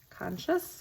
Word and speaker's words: conscious: Conscious conscience conscious. Not that second N in there.